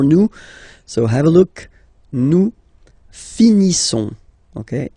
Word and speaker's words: finissons: Nous finissons. Okay, ISSONS. Issons. Nous finissons. Finissons. Okay, final S not pronounced.